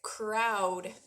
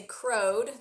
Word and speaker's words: crowd: Sometimes O-W says ow, like crowd. You wouldn't say crowed.